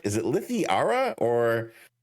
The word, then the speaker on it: Lythi: Is it Lythi or how do I say the full? It's just Lithi. Lithiara is kind of the long form, but it's not really used at all.